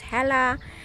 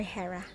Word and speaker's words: Hera: this hera right here some people pronounce this as hella hera something like that but i prefer hera that's really cute name